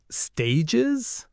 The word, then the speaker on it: stage: Stages? As in theatrical stages? No, it's a French word, stage, pronounced more like stage.